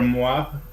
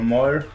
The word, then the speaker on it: Moir: He KOs Englishman Gunnar Moir, or Moir, however you pronounce it. You said it right the first time.